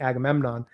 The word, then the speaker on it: Agamemnon: and uh Safy's charact Oh, well Safy playing Agamemnon.